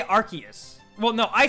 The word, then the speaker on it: Arceus: you want you know deox is a hundred percent arceus or archaea so i say arceus well no i say